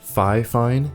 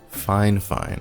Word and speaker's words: FiFine: it even though it looks like it is phi fine it is actually pronounced fine fine the more you know so fine fine sent me their k683 a condenser microphone which